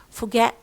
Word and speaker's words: forget: Okay, as in forget. What do you hear? Do you say forget or forget? As you see, no R in British English. Okay, so say forget. So the O turns into schwa because for is not a stressed syllable.